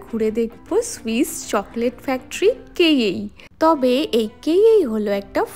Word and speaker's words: Cailler: আরে আজকে আমরা ঘুরে দেখব সুইস চকলেট ফ্যাক্টরি কেই তবে এই কেই হলো একটা ফ্রেঞ্চ ওয়ার্ড আসল বানানটা ওই যে দেখো ওপরে লেখা আছে মানে ইংলিশ ওয়াইজ বললে কেলার এটা হলো সুইজারল্যান্ডের মোস্ট ফেমাস একটা চকলেট ব্র্যান্ড।